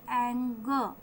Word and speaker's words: anger: वैसे सामान्यतः है लास्ट में यदि आर हो तो उसका प्रोनाउंसिएशन नहीं होता है, तो इसको बोलेंगे एंगो.